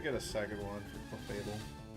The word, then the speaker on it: Clefable: out there on YouTube, have you ever heard anyone pronounce it Clefabell? Because I would not be surprised if somebody out there thinks it's Clefabell. It kind of sounds better, but it's wrong.